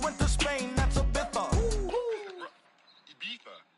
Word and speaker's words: Ibiza: Ibiza, Ibiza, yeah, it's pronounced Ibiza, actually.